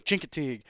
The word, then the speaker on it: Chincoteague: Ha, got it, nailed it, boom, Chincoteague. Originally, I was putting the wrong emphasis on. I was putting the emphasis on the wrong syllable, and so I finally figured it out there.